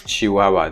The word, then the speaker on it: chihuahua: egg in these words this hu combination stands for the sound w the probably the most famous word in which you have w is chihuahua the dog so there